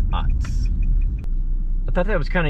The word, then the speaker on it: Utz: chips that Utz makes I once worked with a guy who pronounced UTS as use I like those youths you do well that's good because that's not the name of them it's OTs I thought that was